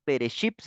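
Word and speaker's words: בראשית: Listo, entonces vamos a Génesis 1, 2 y 3 y este libro en hebreo su nombre es Bereshit, así se pronuncia, digamos como está escrito ahí en el principio y aquí está en la parte de abajo su escritura.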